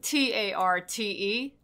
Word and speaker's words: tarte: wants to find it t-a-r-t-e tart the french have a lot of letters at the ends of words that are not pronounced you have version one